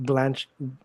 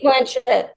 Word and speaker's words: Blanchett: Uh, with the Aviator, I absolutely loved uh Kate Blanch. Damn, I can't say her name, her last name. Blanchett.